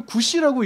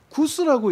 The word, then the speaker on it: 구시: 그러니까 몸이 없는 히브리어를 읽을 때 이걸 구시라고 읽어야 되는데 구스라고 읽고, 그리고 이 스바냐가 가까이